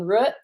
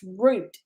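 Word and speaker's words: Rut: uh gopher green living and it spelled r-u-t and i kept saying root and it's root it's pronounced root just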